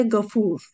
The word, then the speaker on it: Gafur: Gafir, Gaffar ve Gafur isimleri. Tabi bunlar gayın harfiyle ama Türkçe'de biz onu G ile telaffuz ediyoruz.